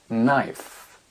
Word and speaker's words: knife: prononciation du cas disparaît prenez par exemple le mot couteau a knife knife le verbe savoir no